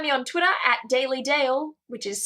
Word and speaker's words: Dael: you can find me on Twitter at daily Dale which is spelt its daily like the word but then